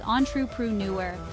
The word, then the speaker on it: entrepreneur: often with considerable initiative risk-taking and Innovation the pronunciation is on true PR newer with the stress on the fourth syll use